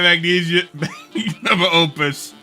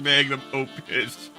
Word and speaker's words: magnum opus: I'm working on my magnesium opus. I think it's pronounced magnum opus.